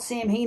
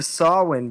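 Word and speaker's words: Samhain: though right nobody called it's the only time I ever heard it called Sam Heen in my life is in Halloween too I've never even heard of sawwin before really yes but it's it's spelled like Sam I know that yeah so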